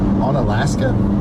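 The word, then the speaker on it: Onalaska: How do you guys say that? On Alaska.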